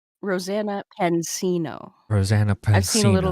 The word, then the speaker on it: Pansino: So, Squatchin, have you seen anything about this, how do you pronounce it? Rosanna Penzino? Rosanna Pansino.